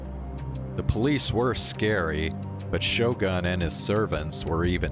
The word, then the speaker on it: Shogun: Yeah, if you're doing Japanese pronunciation, yeah, U's are always pronounced oo, not But, I don't know. I mean, Shogun is an English word, so I figured I would just pronounce it like in English. But yes, technically, if you're trying to use the Japanese pronunciation, it would be Shogun. おもちゃ。